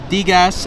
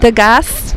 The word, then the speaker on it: Digas: Digas is perfection. Is it the gas? No. It's not that. Don't ever say it again.